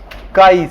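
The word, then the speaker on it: chi: मतलब नहीं है ना प्रोनाउंसिएशन में आपका काई ही पढ़ा जाएगा इसे काई कहते हैं हो गया अब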